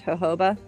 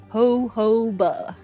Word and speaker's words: jojoba: oil but it looks SP jojoba but it's pronounced hoba Hova hoba Hova b b okay that makes me think